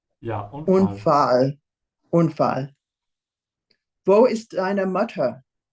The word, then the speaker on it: Unfall: Es gab einen Unfall. Bist du verletzt? Be careful with the A here. Open your mouth wide. It's fall, not fall. Look at my lips. Fall, fall. They're much wider. Fall. Ja, Unfall.